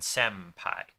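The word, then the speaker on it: 先輩: So if there's an N sound before one of those, it becomes an M. Just because that's the way the mouth pronounces things more easily. Like, that's what it evolved into, actually. So like properly, technically it's tenpura, but in actual speech it's tempura, and senpai.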